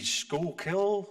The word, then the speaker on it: Schuylkill: which is on the the outskirts near the Schuylkill is that the pronounced great pronunciation thank you the lady who